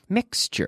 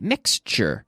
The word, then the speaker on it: mixture: sure nature tu shoot but it's choo-choo nature mixture repeat after me mixture meth glue mixture good nature expenditure expenditure mature